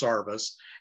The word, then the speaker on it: service: tree got its name it is actually spelled service but down there is pronounced sarvis and uh that's how